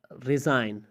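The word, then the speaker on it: resign: अगर किसी लफ्ज़ में एन से पहले जी आता है तो जी हमेशा साइलेंट होता है। एन से पहले जी आए तो जी हमेशा खामोश होता है, जिससे आप कहते हैं नेट, पिस्सो।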